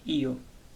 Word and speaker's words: io: Tenemos el pronombre yo y en italiano se dice io.